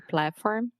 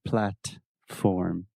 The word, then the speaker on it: platform: I didn't pronounce the T. Yeah, well, you used what we call a stop T. Yes, exactly. So you did not say platform. You said Platform.